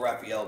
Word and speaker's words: Rafael: I like to call it Raphael because I'm from Mexico, so I say it right.